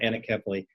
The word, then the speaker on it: anencephaly: disease or condition called anencephaly. Some pronounce it anencephaly.